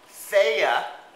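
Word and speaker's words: Fage: okay we got the feya feya yogurt that's how you say it okay doesn't look like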